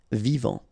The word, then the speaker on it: vivant: Final T not pronounced. Vivant.